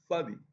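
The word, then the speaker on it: צדי: C'est comme si tu fais un TS, deux lettres. En réalité, bon, c'est Tsadi, ça se prononce avec un samar très fort.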